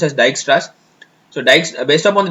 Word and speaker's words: Dijkstra: upon that digixtra's rule thanks actually it is pronounced as dijkstra's so dice based upon the dijkstra's rules uh